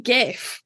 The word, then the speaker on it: GIF: My gift GIF will get It's a fucking GIF. Like, I don't care. It's GIF. Because there is an I after. Oh god. So it's a soft G.